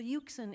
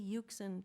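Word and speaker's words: Euxine: hero travels across the uken in a in very bad weather and what do you suppose he rhymes with uken pukin okay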